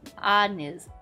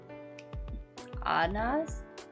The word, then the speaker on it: anise: Anas? Maybe? I don't know. Oh well. Accent the first syllable.